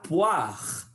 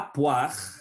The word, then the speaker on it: poire: Voilà, c'est la poire. O-I sonne wa. La poire, les poires, une poire, des poires.